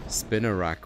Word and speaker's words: Spinarak: I'm amused the way this Pokemon's name is pronounced. Sounds exactly like the Afrikaans word. Spiderweb? Spinarak.